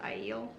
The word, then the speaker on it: Aiel: In my head I always call it the ale, but I think it's Aiel, how they call them. No. I've heard people say it in YouTube videos, and they pronounce it Aiel, and I've always pronounced it ale, and I realize that way makes more sense, not mine, but whatever.